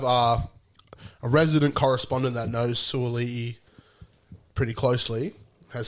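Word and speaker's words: Sua'ali'i: So I've gone Suwali, who's like in the greatest form at the moment. He's a It's freak. pronounced Suwali'i.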